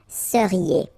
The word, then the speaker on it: seriez: So here when you've got this Z at the end, then you get the sound E, seriez.